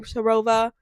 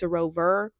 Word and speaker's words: Sarover: It sounds like so I had been saying Sarova because that's what it sounds like, but it's Sarover.